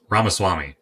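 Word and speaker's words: Ramaswamy: a moment Vivic raas ramaswami I think is how you say his last name uh and he talked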